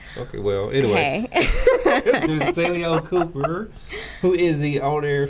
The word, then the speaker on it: Tai'Leone: Tai'Leone? Yes, that's it. Tai'Leone. The way it's spelled just makes me want to say something different.